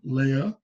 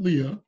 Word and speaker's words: Leia: Now I will say it is Princess Leia, not Leah.